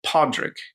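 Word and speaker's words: Pádraig: So this word with 2 Ds, paddy, is the short form of the word Patrick, which in Irish is Podrick.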